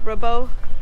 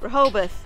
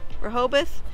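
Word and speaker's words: Rehoboth: magic trick but I will say that uh rabo how do you say it reoboth reoboth and Lewis Delaware reoboth Beach and Louis Delaware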